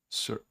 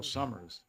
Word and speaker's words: Summers: Um Sur uh you'll have to correct my pronunciation on that. Oh, Summers. Summers.